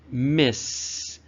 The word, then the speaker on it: Miss: Okay, and it's pronounced Miss with the S sound at the end.